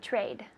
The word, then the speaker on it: trade: me trade trade good the trade with the D T at the beginning D at the end trade trade yeah one more time trade good good with the D trade it's not a soft D in English it's illegal to